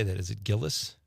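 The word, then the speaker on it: Gilles: Is it Gillis? Gillies.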